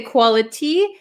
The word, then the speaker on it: quality: at the pronunciation quality we can say quality but this T um is surrounded by two vowel sounds so this becomes a flap T right quality Quality quality